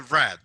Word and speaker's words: read: wanted to get to red the past of read is red in pronunciation in pronunciation like the color red okay so if you